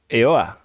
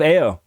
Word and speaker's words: Eoa: in the world of eoa no i said it wrong in the world of ao so bill do you